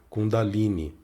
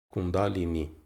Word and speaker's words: Kundalini: começar pela pronúncia, né, que muita gente pronuncia Kundalini. E não é bem isso, né? Na verdade, existe uma tonicidade na sílaba da, né, para pronunciar o nome, Kundalini.